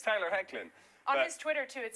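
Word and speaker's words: Hoechlin: we had this didn't we I called him hlin on Monday because hey when you look at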